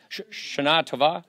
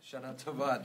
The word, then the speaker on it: Shana Tova: Sherman, Shana Tova. Shana Tova. Shana Tova. 3% Jewish. Let's pronounce it correctly.